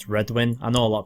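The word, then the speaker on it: Redwyne: I've always said Redwyn. I know a lot of people say red wine. Red wine's probably the correct way because they are known for their wine.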